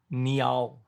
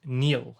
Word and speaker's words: Niall: And it even gives you how to pronounce it, which is Niall. Because so when people say about how you pronounce my name, I guess my anglicized way of saying it is Neil, like Neil.